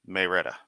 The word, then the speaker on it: Marietta: Atlanta and call it Marietta. pronounced by the locals as Mayretta.